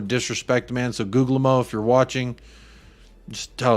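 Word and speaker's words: Guglielmo: do need some outgoings the second G and Google MO is silent googlemo I I like googlemo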